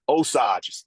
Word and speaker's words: Osage: Osage is how it's pronounced. Osage. I knew You the got it. G. I knew the G had to be soft.